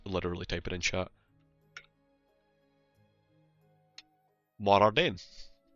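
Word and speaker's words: Mor Ardain: Morardain. I think they try to pronounce it more, as in M-O-R-E, and then Ardain.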